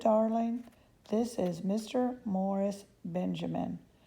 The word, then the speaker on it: Benjamin: Morris Benjamin. Rhymes with cinnamon, he said to me.